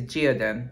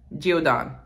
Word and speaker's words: Geodon: The last one, it's not Gideon. I think it's Geodin. But guys, if you've been watching my videos by now, you know I can't pronounce. So it's something. Geodin, Geodon.